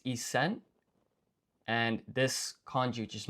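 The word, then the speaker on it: 一千: And then you obviously place extra emphasis on the S in sen.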